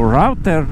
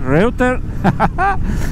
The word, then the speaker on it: Reuter: Esse trecho do BR-116, aqui a gente está no sentido de Morro Reuter, o Router, Reuter. Pronúncia alemã, galera, eu sou italiano, hein?